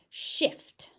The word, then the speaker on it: shift: Shift is not a standard pronunciation, though you might hear it. So try and make sure that you get that T on the end, even if it's just a light shift.